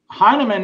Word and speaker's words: Heinemann: Heinemann is the way that I say it. I don't know how else you would say that.